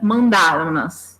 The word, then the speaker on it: mandaram-nas: Ele, na pronúncia, fica mandaram-nas, né? Esse som nasal faz com que a gente transforme em nas.